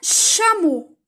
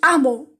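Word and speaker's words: chameau: ان شامو، ما نقولوش امو، لو كان نديرو غير الأش هكا نقراوها امو، بصح كي نديرو سي اش تولي شامو. اون أوتروش، أوتروش اللي هي النعامة.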